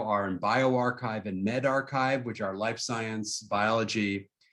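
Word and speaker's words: arXiv: service is called archive that x is actually supposed to be a greek chi that's why we pronounce it archive archive the original one was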